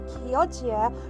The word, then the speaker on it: Chioggia: That is actually how you pronounce it. Just make sure that you're getting it right because it's based on a place in Italy.